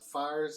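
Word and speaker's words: PHIERS: we'll get into it okay well for starters fires is spelled p-h-i-e-r-s and it's an acronym that stands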